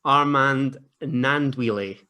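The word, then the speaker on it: Armand Gnanduillet: I've been told that it's Armand Nandwile.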